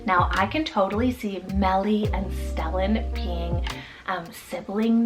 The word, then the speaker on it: Mellie: We also have Mellie, spelled M-E-L-L-I-E, Mellie.